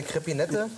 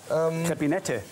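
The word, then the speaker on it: Crépinette: Nee, du hast es völlig richtig ausgesprochen. Also eine Crepinette. Ja, Crepinette.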